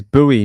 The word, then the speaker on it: Bowie: right away all right so his name is buoy not Bowie sorry it's spelled like Bowie like David Bowie um you would think buoy would have an extra o in it like b o w i e but sure I don't